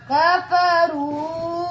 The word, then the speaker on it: كفروا: الذين आगे जी कफरू, कफरू, इसमें कौन सा लफ्ज़ साइलेंट है बच्चों? अलिफ, अलिफ कौन सा है ये? जमा, जमा का, ये हमेशा साइलेंट होता है।